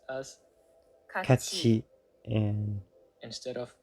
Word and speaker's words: 같이: so they are pronounced as 같이, Kachi and instead of kati, Kuji.